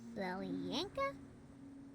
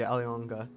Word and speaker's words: Alyonka: I'm just gonna say it once that the pronunciation of Alyonka has been it's been, this is like the second pronunciation I've heard of it, but I'm fairly sure it is supposed to be Alyonka, if this is supposed to be in like some sort of Russian pronunciation.